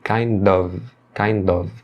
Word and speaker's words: kind of: A preposição of aqui, ela é pronunciada com som de V, tá? Muitas vezes a pessoa pronuncia com som de F. Tá errado. A pronúncia é de V. Kind of.